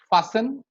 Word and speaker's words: fasten: If a word ends with S-T-E-N, the T goes silent. Christen, fasten, it's listen. And if a word ends